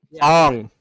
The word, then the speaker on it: Aang: to pronounce Aang's name right. Ong.